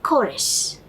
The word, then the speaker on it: chorus: The same CHORUS, where the beginning spelling is CH, it is pronounced as chorus. In the previous one, the CH is pronounced as cha. In the second one, it is pronounced as k.